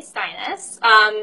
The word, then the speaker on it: Steines: be talking with sinus she told us that her name is pronounced like your highness so that tells you